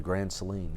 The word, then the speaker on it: Grand Saline: What was Jesse calling Grand Saline?